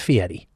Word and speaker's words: Fieri: It's pronounced Fieri.